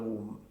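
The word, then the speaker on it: womb: इसका वूम, इसमें बे साइलेंट होता है, इसमें बे साइलेंट होता है, बीच में ऊ की साउंड होती है।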